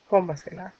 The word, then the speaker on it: cómasela: fourth rule of stress, that if the stress is in the third or the fourth syllable, counting backwards, we must put the tilde. So the tilde goes on there, cómasela. And of course, if it's